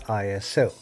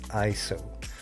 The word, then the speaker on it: ISO: iso today now many people including myself have pronounced this as iso and i've learned not too long ago the actual proper way to pronounce it is iso and what iso is is the sensitivity of